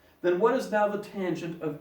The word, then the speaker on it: tangent: We do not pronounce that tan. Kind of like when you see this. How do you pronounce that? Do you say mr? No, that's crazy. You would say Mr. How do you pronounce that? Do you say mrs? No, it's Mrs. Likewise, when you read that, do you say tan? No, that's silly. When you see that, you read tangent.